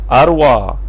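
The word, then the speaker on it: أروى: Dan saudara perempuan iaitu makcik Nabi SAW, ini adik-adik perempuan kepada Abdullah adalah Safiyah, Atika, Arwah. Bukan arwah, arwah, ejaan arwah, alif, ra, waw, ya yang tak ada titik tu, Arwah.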